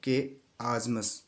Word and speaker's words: chiasmus: अगला जो है इसी क्रम में लास्ट जो वर्ड है हमारा कियाजमस है। इसको क्या पढ़ा जाता है, प्रोनाउंसिएशन मैंने यहाँ पे लिखा है, आई हैव रिटन हियर के आजमस।